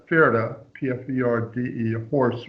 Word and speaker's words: Pferde: Pferde, P-F-E-R-D-E, a horse, right?